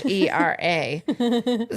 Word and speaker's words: Hera: Thank you, thank you, thank you, Hera. Oh, Hera, Hera. I was in my mind picturing Hera because I'm an idiot. Spelled like Harrah's, like the casinos. Oh, I like that. But it's Hera.